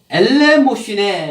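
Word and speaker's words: ἐλεημοσύνη: 이 구제라는 이 말이 구제 헬라어로 엘레모시네 이렇게 하는 단어예요.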